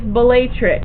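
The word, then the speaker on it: Bellatrix: juu is up here the other shoulder is batrix and that is b e l l a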